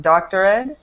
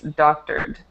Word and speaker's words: doctored: Yeah, with this word doctor, just make sure you don't add an extra syllable right there with the ed. So it's not doctored, it's doctored.